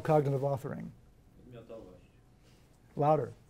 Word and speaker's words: Podmiotowość: And I'll let Maciej Barkowski pronounce this word which he used to describe what I call cognitive authoring. Podmiotowość. Louder. Podmiotowość. Podmiotowość.